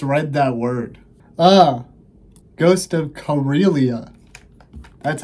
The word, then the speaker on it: Karelia: Ghost of Karelia. That's how you pronounce it.